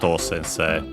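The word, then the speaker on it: 先生: of the rule uh first low second high or uh the other way around but then it stays high until uh include the se of sensei and then it's low on the on the long vow sensei tanaka sensei but yeah in this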